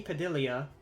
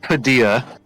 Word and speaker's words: Padilla: Uh, I uh there's an Anthony Padilia, the one of the Oh, smash. Whoa. Okay, back up. It's pronounced Padilla.